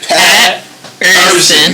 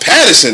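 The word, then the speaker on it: Pat Er'Son: So you like go Pat Urson. You see that drag in between? That's like that line. It's like Urson, baby.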